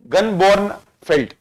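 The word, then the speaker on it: Gunnbjørn Fjeld: The highest peak in Greenland is known as, how do you pronounce this? Gunjor Fjord. Feld. F silent, J silent. Feld. Gunborn Feld.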